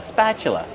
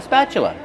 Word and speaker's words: spatula: This is a spatula. I have a spatula. How do we pronounce spatula? Spatula. Use a short a sound like black cat.